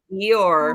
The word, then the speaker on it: Eeyore: Eeyore. Is that how it's pronounced? Eeyore? Eeyore.